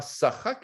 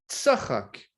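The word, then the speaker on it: צחק: Eh bien, elle rit de cette annonce, et le mot, c'est pas sachak, mais c'est tsachak.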